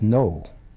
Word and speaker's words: know: The word no, you know. You know, this is spelled different than it's said.